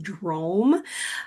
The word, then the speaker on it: DROM: Well, Drome stands for drumming, the drum, and mindfulness, the ohm, put together. So the word is pronounced Drome.